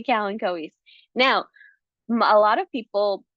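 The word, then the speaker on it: Kalanchoe: So this might be um very very familiar when when I say kalen kois. Now a lot of people actually call these kanchos.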